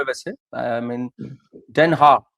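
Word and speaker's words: Den Haag: मैं वैसे I mean देनहा that is हाउ it's pronounced here and इट्स the seat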